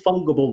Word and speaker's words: fungible: Gold is fungible, Wazza. Fungible. That's it. Fungible. Wazza. Fungible. Fungible is the way it's pronounced. I'm pretty sure.